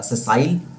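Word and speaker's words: sessile: सेसाइल, सेसाइल इसका pronunciation होगा, सेसाइल।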